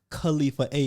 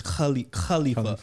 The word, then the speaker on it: Khalifa: And they're like, it's not Khalifa A, it's Khalifa.